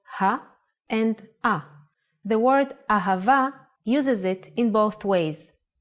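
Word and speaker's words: אהבה: and a the word ahava uses it in both ways when hay appears in the end of the word it will always sound as a ahava is love in hebrew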